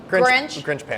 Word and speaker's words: Grinshpan: The way I do it, like the Grinch who stole Christmas and a frying pan. Grinshpan.